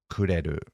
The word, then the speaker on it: くれる: to use the verb kureru? Sure. First of all, what's the pronunciation? What's the intonation here? くれる？くれる？ Kureru? Da-da-da. And it seems to be kind of going up because you're asking it as a Right, question.